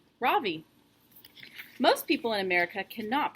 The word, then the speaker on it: Ravi: It's pronounced Ravi with a soft ra and a strong V. In Sanskrit, it means the sun. In America, people call me Ravi with the stress on the first syllable.